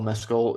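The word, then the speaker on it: Mescal: the only reason why Paul meskel is and that is the correct pronunciation of his name as we all read today um um the only reason why Paul meskill is so great in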